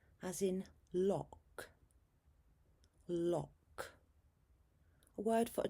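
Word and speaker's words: loch: O as in lock. Lock. a word for a type of lake. This is a Scottish word which is pronounced more like lo.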